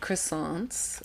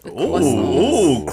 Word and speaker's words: croissant: have croissants. Croissants. Oh, croissant. And she said it right. Croissant. Wimby told us that we were saying croissants wrong. Yeah. And she said it right.